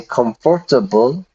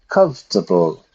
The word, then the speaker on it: comfortable: We don't say comfortable. We say comfortable.